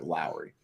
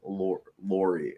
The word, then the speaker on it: Lauri: you know I think Lori is a lot more impressive is it Lori or Lowry I thought it was like like yeah like Lowry like Kyle Lowry even though it spelled